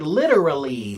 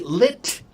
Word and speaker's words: literally: So, if you say it slowly, literally. lit with a hard T, but many words the hard T when you speed it up, it will become a soft D.